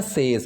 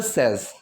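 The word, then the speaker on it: says: सो बट शी सेज, अब इसकी जो प्रोनाउंसिएशन होती है वो सेज नहीं होती है। लोग बोल देते हैं सेज, बट शी सेज, नहीं नहीं नहीं, वो गलत है। इसकी प्रोनाउंसिएशन होती है सेज, ठीक है, बट शी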